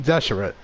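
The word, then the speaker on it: Deshret: pronounced that word but now they figured out how to pronounce it that's your rats King Deseret so he's still the Scarlet King but we now know that he's should be called King Deseret okay huge you have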